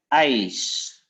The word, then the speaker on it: ijs: It's het ijs. We have this one. The I. Het ijs. We have two letters and you pronounce like I.